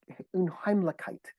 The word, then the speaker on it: Unheimlichkeit: there's this beautiful German term. It's pronounced Unheimlichkeit, and Unheimlichkeit means um, unsettled, the unfamiliar.